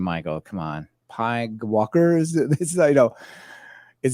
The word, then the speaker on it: PyGWalker: PYG Walker, and you might be saying, Michael, come on, PyGWalker is this? I know It says right here, pronounce PyGWalker just because you can and it's fun.